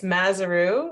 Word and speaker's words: Mazuru: do I pronounce that it's mazuru uh like kangaroo now you won't forget